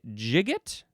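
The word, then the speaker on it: gigot: It would be jigot. Jigot or jigo. It is spelled gi o t. So two very different ways to pronounce it.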